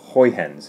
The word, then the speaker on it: Huygens: lecture today and so this is the the houyan's Fornell principle on its its height hens is the right way to print it pronounce it it's not easily said it could